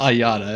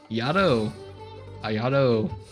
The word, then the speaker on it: Ayato: Is it Ayada? It's not Ayada. It's I don't remember how to pronounce it anymore. Fucking I'm done. Ayato.